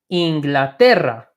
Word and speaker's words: Inglaterra: is our third one so when we pronounce that we say Inglaterra Inglaterra sotae that day is our last is the most emphasized syllable in the word it's not if we